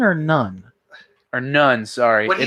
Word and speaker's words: Nunn: Is it non or none?